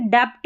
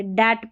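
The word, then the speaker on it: debt: B को BT रहता है ना साथ में, तो B को नहीं पढ़ते हैं। जैसे देखिए डेप्ट नहीं पढ़ते, डैट पढ़ते, B साइलेंट है।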